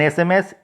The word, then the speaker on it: SMS: And sms, sms. So it is not sms, it is the letter start with letter s, but the pronunciation start with the vowel word e. So an sms.